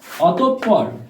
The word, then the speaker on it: অতঃপর: viewers পরেরটি লক্ষ্য করো অতঃপর বানানটি অতপর উচ্চারণ নীতি আসছে অতঃপর ভিউয়ার্স অতঃপর অতপ থেমে গেছে তাই হসন্ত আর পর পর অতঃপর এই হলো উচ্চারণ নীতি ভিউয়ার্স পরবর্তীতে খেয়াল করো